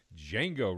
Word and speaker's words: Django: Django Reinhardt. The D is silent. Django Reinhardt volume 1.